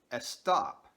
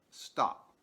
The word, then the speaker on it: stop: For example, they will say eschool instead of school, or estop instead of stop.